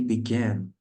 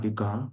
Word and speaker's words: began: You should pronounce it correctly, as I mentioned before. Began. It's not begun. Began. Began. What is begun is like this. It's pronounced like begun, but it is began.